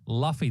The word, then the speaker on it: Luffy: Luffy, that's how you say it.